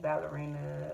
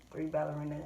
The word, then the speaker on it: 3Ballerina: I will say herbal tea, ballerina, or excuse me, I'm saying it wrong. 3Ballerina herbal tea.